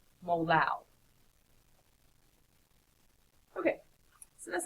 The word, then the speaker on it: molal: Okay, so you put the symbol there, and it is pronounced molal.